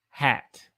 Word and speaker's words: hat: How do you pronounce hot and hat? That's a good question. So those two words sound completely different. So there's HOT hot, hot, hot. And then the other one is hat, hot, hat, hot, hat, hat.